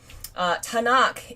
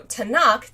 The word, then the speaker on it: Tanakh: Tanakh is a acronym for 3 letters, the 3